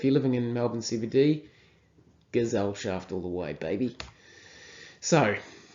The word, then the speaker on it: Gesellschaft: I think it's pronounced Gesellschaft, so not a hard S, it's more like a Z. Gesellschaft.